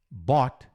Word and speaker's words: bought: Tira o A da bota, que você está pronunciando perfeitamente em inglês o verbo comprar no passado.